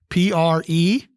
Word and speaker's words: prehension: The word is prehension, 3 syllables, a noun, prehension, prehension, and it means the act of seizing or grasping.